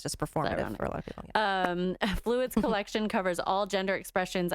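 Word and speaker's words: Fluide: yes and this next one i think is pronounced fluid right but it's within yeah yeah it's fluid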